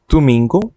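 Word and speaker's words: domingo: করা যাক প্রথমে সাবাদু সাবাদু স্যাটারডে বা শনিবার তুমিঙ্গো তুমিঙ্গো সানডে রবিবার সিগুন্দা ফেরা সিগগুন্দা ফেরা সোমবার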